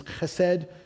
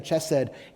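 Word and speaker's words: חסד: The Hebrew word is chesed. It's like C-H-E-S-E-D, if I was to spell it out in English, and it means loving faithfulness.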